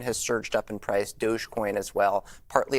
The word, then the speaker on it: Dogecoin: about crypto currency uh dogcoin how is that pronounced Dogecoin Dogecoin all right it's the difference between Target and